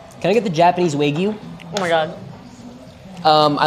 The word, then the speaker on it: Wagyu: How do you pronounce this, Sam? Wagyu.